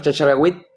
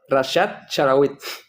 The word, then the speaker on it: Rashad Chlaiwit: Vamos a aprender exactamente primero cómo se escribe, se pronuncia exactamente tu nombre y apellido. Bueno, primeramente, gracias por la invitación. Mi nombre es Rashad Charawit. Rashad Charawit.